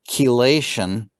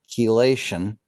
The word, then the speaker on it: chelation: final chemical reaction is chelation so it's spelled like chi but it's pronounced key chelation and this is the